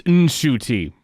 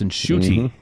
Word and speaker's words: Ncuti: And then his mom said, you idiot son of mine, it's Ncuti. And so he learned at age 26 how to actually say his name. So I guess the rest of us get a bit of a pass, but it's Ncuti, Gatwa, Ncuti. Yeah.